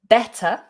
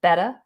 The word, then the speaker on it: better: literally literally better better always making sure that you do pronounce that middle t better in some regional accents and in some american variations as well they might drop that t and say better better it goes more like